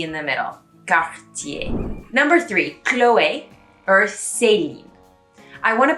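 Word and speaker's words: Chloé: on those e's they become more of an a sound so chloe chloe or it becomes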